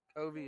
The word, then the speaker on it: Covey: Covey. It is Covey.